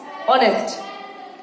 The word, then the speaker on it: honest: It's not children honest, it's honest. H is silent.